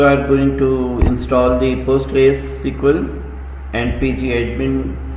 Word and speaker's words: Postgres: Postgres which is pronounced as Postgres is the advanced enterprise class open source RDBMS.